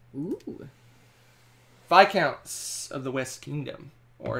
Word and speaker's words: Viscount: They had an argument about why is it pronounced it's Viscount. It's English. Again, English.